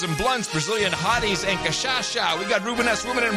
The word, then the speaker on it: cachaça: Cachaça. Cachaça? Yeah. Oh, cachaça. Oh, I thought you were talking about Khashoggi. Cachaça? It's cachaça. What did I say? Cachaça, not sha.